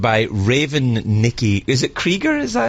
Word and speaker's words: Krieger: Is it Krieger? Is that how you pronounce it?